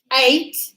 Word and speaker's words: ate: ate, Ate. like the number 8. Look at that. This is pronounced like the number 8.